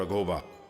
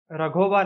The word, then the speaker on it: राघोबा: 1766 में मल्हारराव रघोबा महदजी शिंदे के साथ जंग पे रघोबा नहीं, राघोबा। मल्हार राव नहीं, Malhar Rao. Sorry for interruption भाई। एज a Maharashtrian wrong pronunciation सहन नहीं होते।